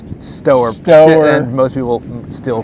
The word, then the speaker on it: Stoehr: It's Stoehr. And that's Stoehr.